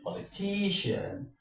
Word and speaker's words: politician: His father is a well-known politician. Politician. So simply what I'm trying to say is when you have a pattern of words ending in IAN, your stress should always be on the penultimate syllable.